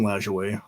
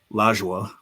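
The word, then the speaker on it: Lajoie: And um they became the naps because of Napoleon Lajoue or Laja, however you pronounce that. I believe it's Loway. But um they changed the name or they started referring to the team as the Knaps.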